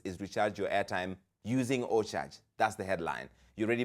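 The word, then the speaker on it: OCharge: Store and look for o charge oar is spelled OC c h a r g e like in O and then charge get it download that app then let's meet at 10 p.m.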